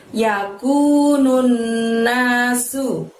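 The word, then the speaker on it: يَكُونُ النَّاسُ: Kemudian berikutnya ada lafaz yakunun nasu.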